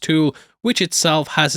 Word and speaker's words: Thule: We can also catch a sign which says Thule Station, though I have been told it's pronounced Tool, which itself has its own meaning.